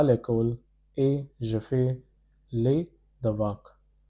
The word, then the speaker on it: l'école: Pronunciation is l'école. This means school.